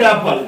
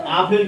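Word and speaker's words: apple: লাল আপেল রেড আপল রেড আপেল আমাদের দেশে আপেল উচ্চারণ এটা ভুল আপেল ইংরেজি তাহলে একটি লাল আপেল রেড আপল ওকে এক গ্লাস দুধ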